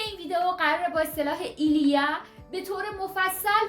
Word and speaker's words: il y a: تلفظ درست اسم من هست ایلیا. اگر بگیم ایلیا این غلطه، ایلیا.